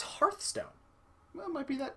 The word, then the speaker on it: Hearthstone: but hearth because it I'm almost positive it's not pronounced like Earth you know what I